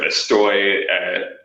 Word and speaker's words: estoy: to people just like skipping over syllables in Argentina instead of estoy, more of a soft or like an H for an S. Estoy, you know, is like.